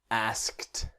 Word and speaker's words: asked: it's a regular verb but the IDI is not asking it's asked asked now I have a